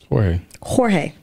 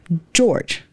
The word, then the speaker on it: Jorge: His name is spelled J-O-R-G-E. Jorge. Everybody calls him George. But it's Jorge. We were in a meeting, the first meeting, I've never met him.